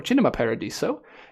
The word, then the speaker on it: Cinema Paradiso: went downstairs and watched Cinema Paradiso or chinema Paradiso if you want that pronunciation there you go wonderful 4K